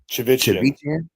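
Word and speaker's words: Chivichyan: Chivichian.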